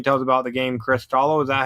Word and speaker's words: CRYSTALLO: Well, how's CRYSTALLO doing, or what can you tell us about the game CRYSTALLO?